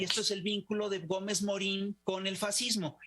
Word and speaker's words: Gómez Morín: decidirnos a mi curiosa gómez morín lo pronunciamos con con la y acentuada pero no se escribe con la guía de acentuada a esto el nombre